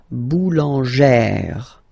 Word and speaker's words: boulangère: Remember, when you've got this E plus this accent grave, you pronounce it like E, really open E sound. Okay, so boulanger, boulanger, and then feminine form, boulangère, boulangère. Same thing, don't insist too much on the final E, boulangère.